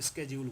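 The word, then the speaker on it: schedule: लेकिन British English में इसको शेड्यूल बोला जाता है क्योंकि उनके पास यह वर्ड आया था फ्रांस से तो वह इसको शेड्यूल बोलते हैं। लेकिन अमेरिकन इंग्लिश में इसको स्केजूल्य बोला जाता है।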